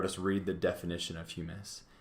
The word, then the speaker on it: humus: rock pieces air water and then material called hummus or hummus looks like hummus but it might be pronounced human sorry i should have double checked